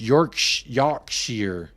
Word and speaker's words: Yorkshire: your noodle is canoodled I'm in Yorkshire pronounced York Yar okay so you are